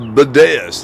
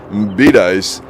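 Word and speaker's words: Bedias: find out it's pronounced Bidice. Also, Shiro has a great cemetery, very historic. Yes, Shiro does. Went back when I had the motorcycle, but Bidice. Okay, so it's Bidice instead of Bidaeus.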